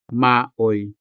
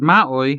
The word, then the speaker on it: maoy: The word maoy has two syllables, ma and oy. As you can see, the syllable oi is a standalone diphthong. That is because it is not attached to any consonant. It is a diphthong and a syllable in itself.